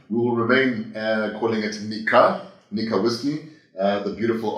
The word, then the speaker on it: Nikka: world I think uh it would be pronounced uh Nika nka Nika but in South Africa in some South African languages the Ks are pronounced as G's which could very well